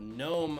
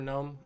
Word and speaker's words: Nome: actually ends in a very small place called gnome alaska n-o-m-e most people spell it g-n-o-m-e see what i did there anyway